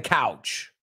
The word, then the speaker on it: couch: And ojo con la palabra coach. He oído gente pronunciar mal couch, que es sofá, y coach. So vamos a decir esta frase. The coach is on the couch. El entrenador está en el sofá. They are not homophones, although I've heard people pronounce them that way.